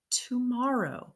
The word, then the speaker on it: tomorrow: o w like ow so it looks like it should say to Mar or to Mar ow but it doesn't it's tomor o tomorrow so how many syllables